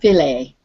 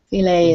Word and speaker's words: filet: now this word here this is a french word and it's pronounced filet filet is um what they